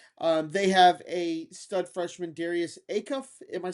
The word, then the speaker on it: Acuff: They have a stud freshman, Darius Acuff.